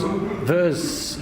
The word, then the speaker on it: Vuur: And this is too, as you said, with your new band, Vuur, is that how you pronounce it?